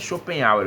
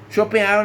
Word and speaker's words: Schopenhauer: Um nome meio complicado, mas Schopenhauer é o nome que a gente pronuncia. Diz assim, Schopenhauer, nascido na cidade prussiana de Danzig, atual Guznach,